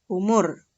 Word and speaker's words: oemoer: u tetapi menggunakan oe Jadi oemoer tulisannya tapi ingat ya ini hanya tulisannya saja pelafalannya tetap umur ciri berikutnya pada ejaan